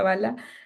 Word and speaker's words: Bala: Mi nombre es Bala, se pronuncia Bala.